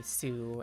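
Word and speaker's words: す: the t sound added this one is usually going to be su as in like des or mas where it gets cut off or like you know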